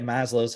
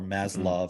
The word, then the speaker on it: Maslow: on that number one look at Maslow's hierarchy of needs right or maslov however you want to say it right so you